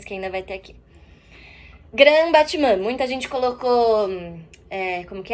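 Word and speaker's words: grand battement: A pronúncia em francês dessa palavra seria grand, esse R de novo na garganta, Grand Batman. Batman. Não falem grande batemente também, tá? Mas aqui a gente fala Grand Batman, que é essa grande batida.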